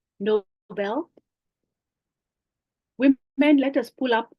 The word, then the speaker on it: Nobel: The word Nobel Prize is not as in being noble. It is actually after a name of a person, Alfred Nobel. I think it's pronounced Nobel.